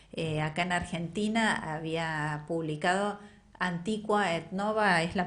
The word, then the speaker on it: Antiqua et Nova: Acá en Argentina había publicado Antiqua et Nova, es la pronunciación, no quiero ser... Así es, Antiqua et Nova, sí.